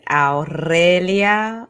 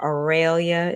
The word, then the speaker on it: Aurelia: that we talked yes hola my name is Al IA if you feeling spicy or aelia is fine or Aura but yes